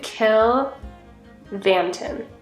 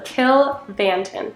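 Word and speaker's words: Cill Mhantáin: and then okay so the MH last time made a v sound so let's do kill vanton my my English teacher brain is like no that's an MH but I'm going to go with what has happened in the past and go with a V so kill vanton killon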